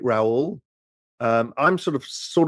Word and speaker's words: Raoul: rhymes with my surname if you're English it's R pal or R pal Americans kind of get it right Raul um I'm sort of